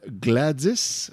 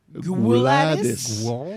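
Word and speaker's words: Gwladys: Et elle s'appelle Gladys, mais ça s'écrit Gladys. G-W-L-A-D-Y-S. Gladys.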